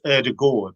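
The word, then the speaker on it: Ødegaard: happy with that uh my understanding is it's erdagord so and you you kind of swallowed a little bit but i think if he's happy with erdogard he's happy with it okay we'll get to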